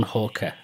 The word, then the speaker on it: Halker: And today I'm uh talking over the internet with Hawker. If I pronounced your name right, I always check with everybody because I always You have indeed Rob.